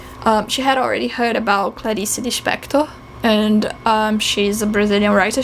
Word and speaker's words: Clarice Lispector: Please do read Clarice, and I pronounce her name as Clarice Lispector, as we do in Portuguese, in Brazilian Portuguese, because otherwise I feel that it would seem like an unnecessary affectation.